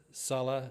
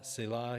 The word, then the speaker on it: Selah: The word Salah, Selah, you'll hear different pronunciations.